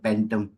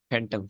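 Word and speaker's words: phantom: इसको कैसे प्रोनाउंस करते हैं, फैंटम या पेंटम? फैंटम फैंटम। एफ की साउंड आएगी ना, PH।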